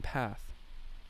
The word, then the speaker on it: path: Footpath, rather than path. Around here, the A sound in path is pronounced like in hand.